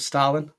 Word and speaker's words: Stalin: Do you mean Joseph Stalin? Yeah, did I pronounce it wrong?